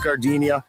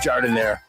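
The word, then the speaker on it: giardiniera: Hey guys, when you're at the counter, don't call it Gardinia. It's pronounced jardinire.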